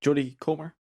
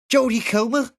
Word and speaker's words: Jodie Comer: there she is jody julie comer sorry yeah no it's actually pronounced jodie comer she's from uh it